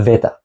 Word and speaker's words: beta: ancient Greek speakers so this beta is no longer pronounced like a b it's closer to the English V this would be more like a Veta and some of the